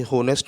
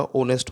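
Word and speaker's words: honest: मुझे ऐसे लिखना होगा, ये होनेस्ट नहीं होता, ओनेस्ट होता है, क्योंकि एच जो है साइलेंट है।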